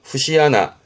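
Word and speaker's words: 節穴: 그러면 마디의 구멍이라는게 일단은 발음은요. 후시하나 후시하나에서 그 마디의 구멍이 뭐냐면이 그림이요.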